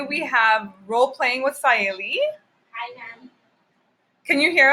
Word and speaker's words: Saliee: Saliee. Kind of? Yeah. Hearing Right. it? Yeah. Saliee.